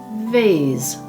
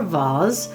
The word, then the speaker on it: vase: And here we have the word vase or vase, depending on how you say it.